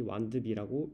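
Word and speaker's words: W&B: 영어로는 W and B, 이를 줄여서 W and B, 완드비라고 읽습니다.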